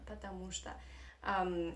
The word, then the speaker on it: потому что: Потому что, because, yeah, потому что. We write 2 words, потому, space, что. But we pronounce these 2 words together in Russian like one word. So we say потому что in Russian language.